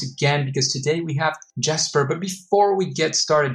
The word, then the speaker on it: Jesper: It's Jesper, but I also respond to Jesper.